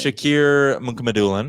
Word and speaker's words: Shakir Mukhamadullin: Shakir Mukhamadullin.